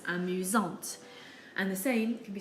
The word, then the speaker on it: amusante: But when we're describing a girl, we add an E, and now we have to pronounce the T, giving us amusante.